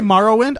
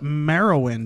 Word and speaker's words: Morrowind: free down you say morrowind I've always called it Mara win I've got morrowind huh you been saying it wrong for like 10 years I've been saying